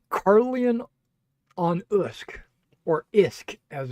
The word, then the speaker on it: Usk: It's Carlian onusk or Isk as it's called. The U is pronounced as an I actually. Okay. So, um the Isk River is uh you